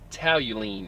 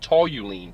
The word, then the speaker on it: toluene: bad stuff too and toluene which the guy mispronounced he called it tally lean it's tall you lean tou lue 153 on